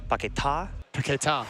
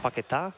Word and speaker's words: Paquetá: Actually, by the way, I was told it's Paquetá. Paquetá.